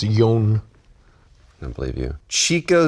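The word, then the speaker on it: Jonn: J-O-N-N. I need to see that. John Swiftflight. Again, it's pronounced Yon.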